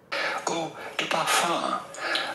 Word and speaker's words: eau de parfum: Eau de parfum. Eau de parfum. From French, eau de parfum. So, eau de parfum. That's how it's pronounced.